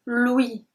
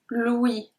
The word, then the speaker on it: l'ouïe: The sense is called l'ouïe. L'ouïe. L'ouïe. You remember when there is tréma on the E, that means that we have to pronounce the E. So here you can read it like ou-I, l'ouïe, l'ouïe, l'ouïe.